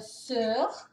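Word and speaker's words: Sør: Aqui é o Sur.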